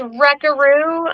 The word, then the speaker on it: Wreckaroo: It's Wreckaroo, spelled like wrecking ball, WRECKAROO.